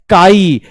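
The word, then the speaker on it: χ: सुनिएगा डिफिकल्ट है सुनिए प्रोनाउंस्ड एज काई काई मतलब सी एच आई जैसे केमिस्ट्री वाला है ना वैसे ही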